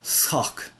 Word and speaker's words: shǒǒk: This is a particular verb, to lie, sock. It's a little tricky to pronounce because this sh, it's not sh, it is s. It's an s followed by a h or followed by a velar fricative, depending on how you pronounce it.